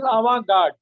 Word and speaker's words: avant-garde: ideas, including his study of the modernist and avant-garde development of his times. No, the correct pronunciation is avant-garde.